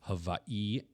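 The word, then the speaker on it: Hawaiʻi: So with the apostrophes, you're supposed to put an emphasis on the second syllable. So it's supposed to be Hawaii and Kauai and stuff like that.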